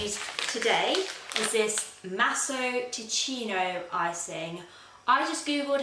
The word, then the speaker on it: Ticino: The icing that I'm going to use today is this Masso Ticino icing. I just googled how to pronounce that and I believe it is Ticino, not Ticino.